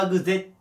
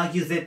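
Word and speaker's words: arg: んですけどまアグ Z もしくはアギ Z と読みますでねアーグっ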